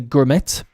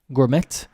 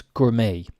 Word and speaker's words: gourmet: I'll hear people say germit Gourmet but because we have kept the French word we won't pronounce the T and it's Gourmet Gourmet a gourmet meal